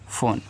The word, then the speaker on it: phone: PHONE फोन, यह आपका एक इंग्लिश वर्ड है, तो PH से आपका फा हो गया, आपका यहाँ पे ओ दिया है तो लगाओ आप ओ की मात्रा, और एन से आपका ना, यहाँ पे इसका उच्चारण नहीं होता। लास्ट में जब ई आता है, इंग्लिश जब आप इंग्लिश की बुक को पढ़ोगे, लास्ट में जब ई आता है तो ई का प्रोनाउंसिएशन हम नहीं करें, तो यहाँ पे आपका हो जाएगा फ़ोन।